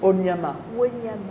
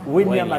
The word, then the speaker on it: Wanyama: Alors, Victor Vous avez dit Onyama. Wanyama. Mais il a un nom qui ressemble à celui de l'ancien gardien des Super Eagles qui s'appelait Enyama. Enyama. Voilà. À la différence, lui, ça s'écrit avec un W pour le Kenya.